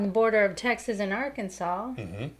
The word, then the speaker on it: Arkansas: border of Texas and Arkansas. Mm-hmm. Right? That's how you say it? Arkansas. It looks like Arkansas. Arkansas. Yeah. We jokingly said that, growing up.